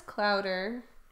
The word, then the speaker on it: clouder: It's like chowder, but with an L. Oh, it is clouder.